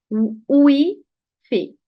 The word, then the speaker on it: wifi: telaffuz ederken daha çok ne diyoruz WiFi WiFi gibi ama İspanyolcada bu yok Yani çoğu bölgede Yok onun yerine ne var Bunun yerine u var UV var b var burada hangisini söyleyeceğim w sanki u i yan yana geldi ve hızlı okudum gibi u Fi ufi ufi Burada yine u a